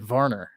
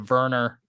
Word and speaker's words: Werner: avalanche goaltender adam vorner so he's swedish so you have to pronounce it varner instead of verner werner yeah like we're americans werner but anyway episode number 30.